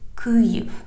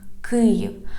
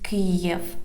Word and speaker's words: Kyiv: The heart of our country is Kyiv. Kyiv. Please repeat after me. Kyiv. Please don't pronounce it as Kyiv.